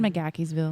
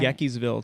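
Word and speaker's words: McGaheysville: McGackey'sville.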